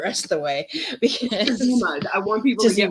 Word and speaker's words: Tazima: Because Tazima. I want people to get my name right. Tazima. So sass on the Z. That's how to remember it. Sass on the Z. Tazima.